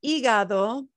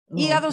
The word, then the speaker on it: hígado: El hígado, hígado se escribe con H, that is spelled with an H, with an H, pero no se pronuncia la H, ¿sí?